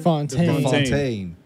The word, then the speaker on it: Fontaine: And then it showed us Contessa Valentina Allegra de how do you pronounce it? Fontaine.